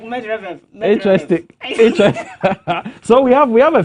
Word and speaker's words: Medvedev: So you break it into syllables. Okay. Okay. MED is what? Med. VED Ved. is vet. Then EV is F. F. So Djokovic dominates Medvedev.